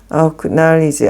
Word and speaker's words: acknowledge: 가까이 있는 너희는 acknowledge. acknowledge는 이 크가 좀 얇게 봐요. acknowledge. 여기구나. acknowledge. 원래 ck도 크 발음이지만 이 c는 앞에 붙는 크. 이거 c는 원래 자기 knowledge에 있는 묵음 크예요. 그래서 acknowledge죠.